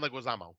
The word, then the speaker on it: Leguizamo: Now, John, I always say his name wrong. Lemusa, he was recently in The Menu. Oh, John Leguizamo.